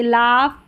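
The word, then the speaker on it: laugh: जी एच का sound फ आता है कुछ वर्ड्स में। जैसे यहां पर देखें जी एच है। अब यहां पर साइलेंट नहीं है। लास्ट में है जैसे लाफ, कॉफ, टफ। यहां पर फ की ध्वनि आ रही है जी एच की।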